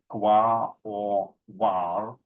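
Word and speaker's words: Quaoar: 3 other Kuiper Belt objects found so far, Sedna, Quar, pronounced by Qua or Var, and Orcus, are half the size of Pluto or even larger.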